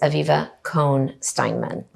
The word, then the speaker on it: Aviva Cohn Steinman: For clarification, the pronunciation is Aviva Cohen-Steinman.